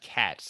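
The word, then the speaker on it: Kac: this artist, Eduardo Koch, It's actually pronounced cats, strangely enough, although you Cat, would never know it um, from how it's spelled.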